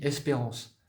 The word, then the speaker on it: Sprence: S-P-R-E-N-C-E, ça se lit Espérance. Mais quand vous le regardez comme ça, c'est marqué Sprence.